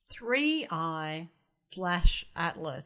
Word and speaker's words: 3I/ATLAS: 3I/Atlas. The slash is not pronounced.